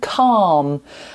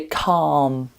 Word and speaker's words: calm: Um, watch out for the pronunciation of calm. I know there's an L in it, but we don't say um the L. We say calm. Calm. So, ignore the L.